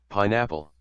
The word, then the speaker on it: pineapple: And this uh the the word pineapple, I think, is supposed to be stressed on the first syllable on the pi. Pineapple. But he says it pineapple. Whistle. Pineapple. Whistle. Pineapple. I would defer with that. I think believe it's pineapple.